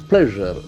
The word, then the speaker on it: pleasure: Pleasure. That's a very important word in terms of its pronunciation. Pleasure. Pleasure. Pleasure. Okay, pleasure. That true sound is very interesting.